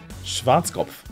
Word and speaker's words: Schwarzkopf: founder Hugo Ferdinand boss number 10 is schwarzkop Schwarzkopf Schwarzkopf is a haircut product brand founded in